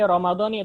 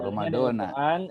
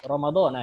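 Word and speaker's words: رمضان: Ini Ramadan, ini bacanya bisa dua ya. Tapi yang lebih, kalau kita ikut ke Al-Quran, lafaz Al-Quran, ini dia Ramadan termasuk ghair munsharif. Oh gitu, Ramadana. Kita baca apa? Syahru Ramadana, ya kan?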